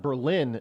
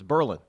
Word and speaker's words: Berlin: New Hampshire it's not it's not Berlin New Hampshire it's Berlin who does that I've talked